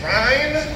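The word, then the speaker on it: Rhyne: red my name is Ryan uh that is r h y n e uh country accent just hold out the Y and say rhyme uh and hopefully that'll help you pronounce it uh but people call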